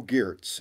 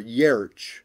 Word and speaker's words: Giertz: the works of Bo Giertz, and or Yerch, as it's actually supposed to be pronounced, but us Americans, we just butcher names for the fun of it.